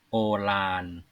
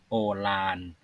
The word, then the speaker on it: โอฬาร: ด้วย ความ เย็น โอฬาน โอฬาร ล จุฬา ออก เสียง เป็น ล ลิง โอราน แปล ว่า ใหญ่ โต